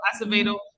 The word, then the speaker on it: Acevedo: and let's be clear art acevedo or acid i don't know how to pronounce that oh it's absolutely acevedo uh he is cuban